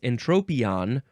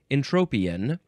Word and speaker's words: entropion: it is next we have an tropon yes entropion or entropian spelled e n t r o now we